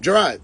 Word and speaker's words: Gerard: So your name is. Gerard. Gerard. He just said.